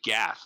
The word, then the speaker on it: Gath: Yeah, it's actually Gath, G-A-T-H.